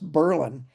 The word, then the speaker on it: Berlin: It's um Berlin, Illinois, only it's pronounced Berlin uh in Illinois, but they're also the home of the pretzels.